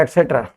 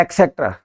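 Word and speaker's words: et cetera: ठीक है, एक शब्द होता है एटसेट्रा, इसको कोई बोलते हैं एक्सेट्रा, इसमें कै का साउंड नहीं है, ये शब्द है एटसेट्रा।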